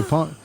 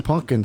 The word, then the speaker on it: pumpkin: ] for halloween okay a lot of people say punk it's pumpkin spice but like not